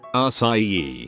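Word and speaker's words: açaí: Cadilla, which changes the hard C to a soft C, which is pronounced like an S.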